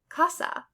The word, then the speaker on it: casa: So if you see A, it's going to sound like A, as in father. So for example, a Spanish word would be casa, which means house.